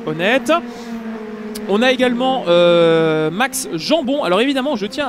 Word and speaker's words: Jambon: J'ai prononcé Jambon à la Belge pendant deux manches. Je m'excuse auprès de Max, qui est d'ailleurs un excellent prénom, puisque c'est Max Jambon et pas Jambon.